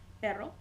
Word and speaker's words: perro: wanted to say dog I'll say perro hold it a little bit longer longer perro perro and I know some